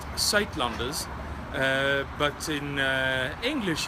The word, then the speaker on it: Suidlanders: again where to find more information okay it's pronounced sat lunders uh but in uh English you would probably pronounce it some of like sew Landers and this is how you spell it s